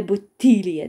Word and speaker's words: bottiglie: Пам'ятаємо трошки не пом'якшувати d, щоб в нас взагалі така була бомбезна вимова. Dt не пом'якшуємо. Тобто кажемо студенти. Le bottiglie piene, le bottiglie, да?